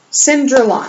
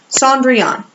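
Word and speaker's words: Cendrillon: my last story is cinder lon I think I pronounced that where I'm not really sure I thought I could find out it is actually Sandri on I can remember that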